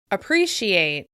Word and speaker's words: appreciate: first syllable appreciate appreciate if you feel like the first syllable isn't particularly clear you're right the vowel sound in the first syllable is actually the schwa sound which is a very